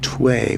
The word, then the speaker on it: Tway: I have the official pronunciation, T-Way. So we'll call it T-Way from here on in.